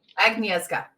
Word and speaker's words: Agnieszka: How do I pronounce the name again? Agnieszka.